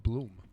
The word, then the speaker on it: Blum: but thank you yeah my last name is uh bloom bloom bloom yeah bloom like orlando bloom i say because it